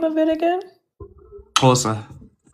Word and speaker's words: Xhosa: Xhosa. Spell it.